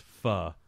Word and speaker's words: pho: I've seen I know it's I know it's pronounced fuh you know by the proper vernacular yeah but